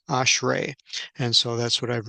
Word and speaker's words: ashrei: It's ashrei.